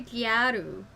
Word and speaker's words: gyaru: i translate it to gyaru it's just gal it's just a japanese pronunciation of an english word gal he requested that she